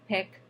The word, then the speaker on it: HCPCS: a different type of code and also picks picks level 2 HCPCS which we pronounce the tiktok level 2 coats now hospital